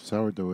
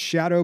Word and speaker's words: Sourdough: That was Sourdough X. I thought it's Shadow, but Dough is spelt like dough. Like, oh, like dough.